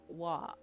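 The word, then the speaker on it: は: Oh, so it is ha, but you pronounce it as a wa.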